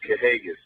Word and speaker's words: Kahagas: You know, I know you guys up there from the Northeast got a little, you know, issue with pronunciation a lot of times, but it's Kahagas.